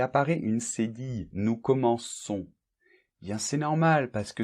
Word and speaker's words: commençons: on voit qu'il apparaît une c'est dit nous commençons bien c'est normal parce que sinon on prononce rennes ou comment con ça n'irait pas